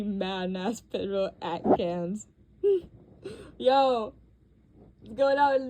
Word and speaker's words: Cannes: Cannes? I never think I'm saying it right. Sometimes I think I've heard people pronounce it other ways. Cannes.